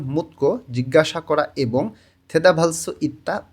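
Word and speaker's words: 묻고: দিউত বাচ্চিমের পরে যখন গেয়ক আসে তখন এই গয়ের উচ্চারণটা কয়ের মতন হবে। উচ্চারণটা হয়ে যাবে মুতকো জিজ্ঞাসা করা এবং থেদাভালসু ইত্তা উত্তর দিতে পারা।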